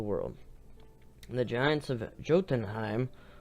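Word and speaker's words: Jotunheim: and the Giants of jotenheim or yotenheim if you want to pronounce it in the ancient Viking dialect are the descendants of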